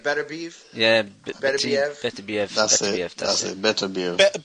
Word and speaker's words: Beterbiev: I don't know how to pronounce it. I think it's like Beterbiev.